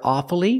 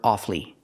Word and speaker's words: awfully: one strange word awfully sometimes you'll hear awfully with three syllables awfully but it's more common to hear offly with two syllables examples